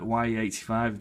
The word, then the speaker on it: Wiyy85: But Wiyy85, that's how you say it.